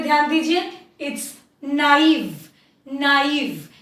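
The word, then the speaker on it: naive: नाइव, इसको हम नेव नहीं बोलेंगे, इसको हम नाइव बोलेंगे.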